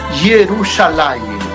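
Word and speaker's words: ירושלים: Jerusalén significa o se pronuncia en hebreo Jerusalim.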